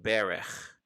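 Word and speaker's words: ברך: the first two letters reading from right to left it would be pronounced berecht berech why don't you try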